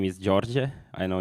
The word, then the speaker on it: Đorđe: Uh uh by the way my name is George. I know it's hard for everybody to pronounce it but yeah some of you may know me by my handle at GitHub.